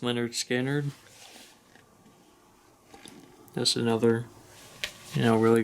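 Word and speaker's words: Lynyrd Skynyrd: all uh prince uh winner skinner pronounced leonard skinner just another you know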